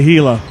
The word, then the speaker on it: Gila: heia is it hea do I pronounce the h the hea monsters hila heila monsters works thank you to Star for that one I will or Hala he oh I'm going to say hila it's like Hilo copter but